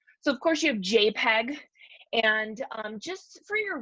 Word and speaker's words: JPEG: say it better because when you say jpg not many people might know it's we say jpeg um but it's a